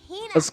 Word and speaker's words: Hina: You keep saying it wrong. It's Hina.